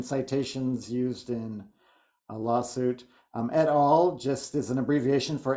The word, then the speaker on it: et al: Marco, I believe this one is pronounced et al. And I've used it myself in my thesis, my master's thesis, and my own counselor told me, no, that's not how you pronounce it. You pronounce it etal.